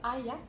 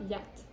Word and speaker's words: Hyatt: Ah, ça se prononce Hyatt? Oui. Ah. Hyatt. C'est comment tu disais ça, toi? Yacht. Je fais la liaison. Yacht. Non, Hyatt.